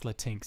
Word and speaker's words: Latinx: as a capital i think it's latinx that's how you pronounce it it's not latin educate yourself you don't